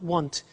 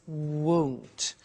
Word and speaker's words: won't: careful with the pronunciation it's not want it's won't so the example is